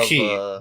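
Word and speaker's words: χ: really how it's yeah it's pronounced key yeah cuz it's like it's not an X it's like the symbol key yeah speaking of fighting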